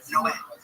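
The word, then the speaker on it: Noé: Like in the Bible, the Spanish translation, it's Noe is Noah, but it's pronounced Noe.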